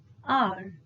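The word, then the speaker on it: hour: it is pronounced as r h is silent that is why n is used my mother was an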